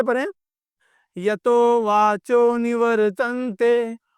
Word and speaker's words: निवर्तते: क्या है यतो वाचो निवर्तते पढ़ने का प्रयास कीजिए निवतते र कहीं दिख रहा है आपको निवर तो यहां का ये रेफ जो है ये रेफ इसका उच्चारण होता है र तो नी वर नी